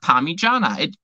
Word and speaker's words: Parmigiana: And it's pronounced Parmigiana.